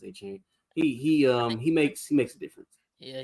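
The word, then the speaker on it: Achane: But Devin A Chain or whatever, I think it's pronounced A Chain.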